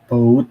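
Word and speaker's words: bought: Verb duanya adalah I B iya i B B B B bacanya B gitu B B pakai T belakangnya belangnya T B di B em kayak baut nah bacanya baut gitu I Oke, mungkin ada yang kurang jelas dari contoh ini, Teman-teman.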